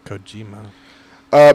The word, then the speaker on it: Kojima: Kojima.